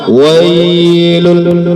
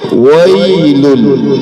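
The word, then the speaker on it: ويل: Tidak boleh lebih dari satu kali sentuhan. Contoh yang salah, wailul, itu sudah salah. Yang benar gimana? Satu kali sentuhan, lunak saja dia. Wailul, wailul, wailul.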